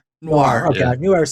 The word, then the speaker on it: noir: Noir.